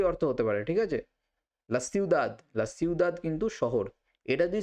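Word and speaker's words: la ciudad: বা আবহাওয়া দুটোই অর্থ হতে পারে ঠিক আছে লাসিউদাদ লাসিউদাদ কিন্তু শহর এটা যদি স্পেনের দক্ষিণ ভাগে লিস মাধ্যমে যদি প্রনাউন্সের উচ্চারিত হতো তখন এটার উচ্চারণ হতো থিউদাদ সেটা আমরা এখানে বলবো না আমরা সিউদাদি শিখব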